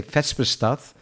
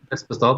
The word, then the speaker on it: Vespestad: The funny thing is when you speak Dutch and you would pronounce it and you see Norwegian written, I would say Vespestad, but I think it's different. Vespestad, yeah.